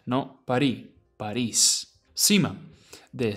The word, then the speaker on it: París: Unlike English, where you say Paris, in Spanish you pronounce it París, with the S at the end, no París, París.